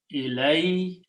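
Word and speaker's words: إليه: When you write down these two words together, it will be written as ilayhi. Sound of this dhamma changes to a kasra in the pronunciation.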